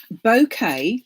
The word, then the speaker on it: Bokeh: so there we are your bouquet spelt b okay i think but pronounced as in a bouquet of flowers technique so any colors